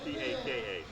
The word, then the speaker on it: PaKa: So do you spell like Tupac spell his name? P-A-C? I spell it P-A-K-A. P-A-K-A. It's PaKa. It's Swahili.